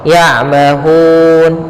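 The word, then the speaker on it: يَعْمَهُونَ: Cara membacanya yaitu kita panjangkan hu-nya, boleh 2 harokat, boleh 4 harokat, dan boleh pula 6 harokat. Contoh, ya'mahun 2, ya'mahun 4 harokat.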